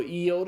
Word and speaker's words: iota: It's it's a short i sound as in the first i in the English word intrigue, but it's also a long sound. And when it's long sound, it's pronounced as an e. Again, just think of intrigue. The first i in intrigue is the short iota sound. The second i in intrigue is the long iota sound. Okay? So, EOTA is pronounced I or E as in intrigue.